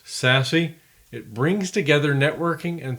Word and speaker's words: SASE: Abbreviated SASE, pronounced SASE, it brings together networking and security functions and delivers them as an integrated cloud service.